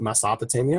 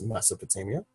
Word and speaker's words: Mesopotamia: We hear the name of it, and Eloquence pronounces it Mesopotamia, but it's Mesopotamia, in my opinion.